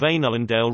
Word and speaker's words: Ainulindalë: For example, the last four letters of Einullendale represent two syllables, rather than the English word dale, and the first three